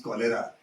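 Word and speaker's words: choler: boy of this class told it as chera that is not chera that is kera since then I remembered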